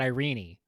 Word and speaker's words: Irene: saying, like some of the older readings I've heard, especially from Britain, pronounce it Irene.